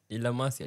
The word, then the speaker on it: La Masia: La Masia tu.